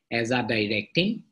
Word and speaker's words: azadirachtin: So pronunciation jetia kora hoy, it would azadirachtin, it is pronounced kora hoy, azadirachtin.